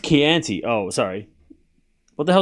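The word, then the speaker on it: Chianti: Oh, it's pronounced Keianti.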